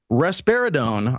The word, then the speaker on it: risperidone: Risperidone, I believe is how it's pronounced, is the drug.